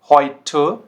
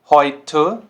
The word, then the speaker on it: heute: जैसे heute, heute, teuer, teuer, Bäume, Bäume। तो ये साउंड कैसे कर रहा है, ओए।